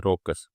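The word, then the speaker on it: raucous: कैसे प्रोनाउंस होता है? रॉकस।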